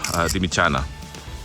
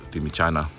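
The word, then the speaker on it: Dimitsana: myself with my wife, Dimichana. I know if you're Greek watching this, I know that I pronounce the T as Taf Sigma, like a CH.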